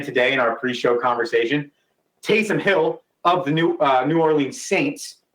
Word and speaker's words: Taysom Hill: I realized last week I pronounced his name wrong. I called him Peyton Hillis, and then did again today in our pre-show conversation. Taysom Hill of the New Orleans